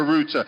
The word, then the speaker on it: router: things learn how to turn off the Reuter at home the router is the router sorry I know a lot of you know it from the American pronunciation in England we say the router it's the little box